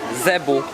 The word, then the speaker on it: zebu: Well, the meat here is mainly zibu meat, zebu phonetically, meaning it's their cow, or